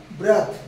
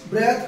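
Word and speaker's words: breath: ফর্মে নিচেরটা ভার্ব ফর্মে আরো একবার বলে দিই উচ্চারণটা ব্রেথ আর এটা হচ্ছে বৃথ চলো বি আরই এটি এইচ ব্রেথ কোন ফর্মে নাউন ফর্মে বাংলা মানে শ্বাস প্রশ্বাস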